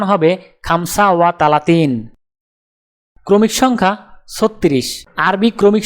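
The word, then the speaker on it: خمسة وثلاثون: আরবি ক্রমিক সংখ্যা 35 দেখতে এরকম, উচ্চারণ হবে খামসা ওয়া তালাতিন। তাহলে 35 ক্রমিক সংখ্যাটির আরবি উচ্চারণ হবে খামসা ওয়া তালাতিন।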